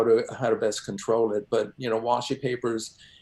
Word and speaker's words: washi: And for you, where I'm going with this is you use what's known as washi paper. Am I pronouncing that right?